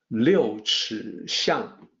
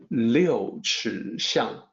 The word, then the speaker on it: 六尺巷: The actual pronunciation is 六尺巷. 六尺巷.